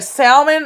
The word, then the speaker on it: salmon: But anyway, salmon and salmon, which one? With an L or without an L? It's got an L, but it's silent.